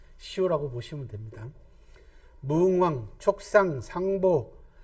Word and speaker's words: 상보: 무응왕, 촉상, 상보. 상보는 이제 유선이 제갈량을 부르던 존칭입니다. 재상 아버지, 그죠? 이럴 땐 보라고 읽습니다.